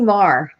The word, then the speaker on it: Meagher: It's actually Marr. Marr. Oh, see? But on the website, it says Meagher, but I guess I'm saying. No, that's how it's spelled, but how it's pronounced is different.